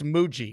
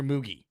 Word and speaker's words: Mougey: It's no longer Mugi. It's Muji.